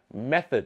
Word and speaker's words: method: อย่าง เช่น นะ ครับ method สระ เออะ ไม่ ใช่ เมอ อะไร อย่า เงี้ย ใช่ มั้ย